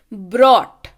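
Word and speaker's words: brought: अगला शब्द देखिए, ब्रॉट. यहाँ पे आर का उच्चारण है.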